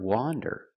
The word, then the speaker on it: wander: one one wonder wonder the word wander with the open Sound a wander is a verb it